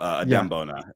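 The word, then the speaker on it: Adem Bona: I could hear I think it's Bona Adam Adam Bona that's how you pronounce it um that's hilarious Trevor Trevor there's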